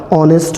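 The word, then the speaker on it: honest: आर इन सब में H silent रहता है और एच साइलेंट यदि रहता है तो इनको पढ़ने का ढंग भी यही होगा ऑनेस्ट होगा आवर होगा ऑनर होगा नरेल होगा तो नेस्ट में कौन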